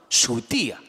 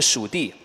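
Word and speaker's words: 竖笛: "Shǔdì"😂 Ok, this "Shǔdì" (clarinet : Correctly called " Shù dí " ) 😆 Okay, so...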